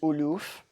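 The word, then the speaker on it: آلاف: thousand is elf and the plural is aloof yeah and you use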